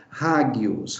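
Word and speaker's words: ἅγιος: você pronuncia essa palavra rádios rádios então esse again tem esse som aspira lado como house na no inglês tá então rádios em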